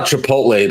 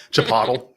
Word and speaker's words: Chipotle: Yeah, that's how Chipotle learned to pronounce their name. Chipotle.